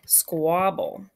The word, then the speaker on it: squabble: last word squab bull squabble this one is actually a closed syllable that actually sounds like an O squab because after